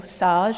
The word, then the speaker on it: Sage: Those of you in the finance world will know Sage or SGE it's pronounced in French.